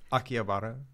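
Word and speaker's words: Akihabara: go to akara how do you say it akiabara yeah okay well you gonna go there and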